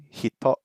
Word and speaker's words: 人: Okay, this word means person, and we've already learned 2 pronunciations for this. We've got jin, right? 中国人, 日本人, イギリス人 desu. So we know this word. It also is hito, right?